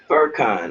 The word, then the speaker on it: Furcon: Furcon, like fur, a bear got fur.